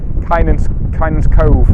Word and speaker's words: Kynance Cove: It's Kynance Cove is how it's said, and we're hoping there's some really nice sea stacks and rock features on the beach.